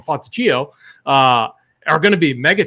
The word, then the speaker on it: Fontecchio: But on a slate where like Justin Holiday and Simon Fontecchio is actually, I believe how you say his name. I always call him Fontecchio.